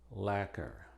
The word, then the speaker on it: lacquer: Y es muda en una sola palabra: lacquer.